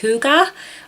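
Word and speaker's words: hygge: couple years ago is I think it's pronounced hookah or his spelt like it's the Danish way of living and I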